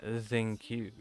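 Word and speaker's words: Xingqiu: And Zingqiu.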